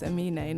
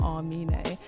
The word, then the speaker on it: Amine: It's Amine, not Armine.